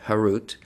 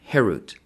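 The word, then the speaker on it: חרות: Do not pronounce it carved, harut, but rather freedom, herut, to show that they are freed from the angel of death.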